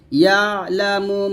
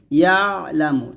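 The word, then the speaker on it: يَعْلَمُ: আই দি হিম, একসাথে, ইয়ালামু মা বাইনা আইদিহিম, আইদিহিম দিয়ে টান দিবেন, ইয়ালামু, ইয়ালা, ইয়ালা, এরকম ভাবে পড়বেন না, ইয়ালামু, এরকম।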